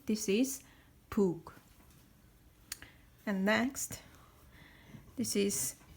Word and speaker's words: 북: 북. 북 is drum. Drum in Korean is 북. 북. We say this is 북.